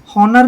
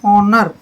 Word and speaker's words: honour: जैसे HONOUR, हॉनर नहीं बोलेंगे इसको, ये होता है ऑनर। ऑनर, एच साइलेंट रहेगा। ऑनर होता है सम्मान।